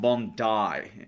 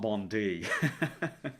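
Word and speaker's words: Bondi: It's pronounced Bondai, not uh not Bond D.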